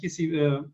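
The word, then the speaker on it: Qissi: martial arts world, like Bob Wall, like the Kisi, how do I pronounce Kisi?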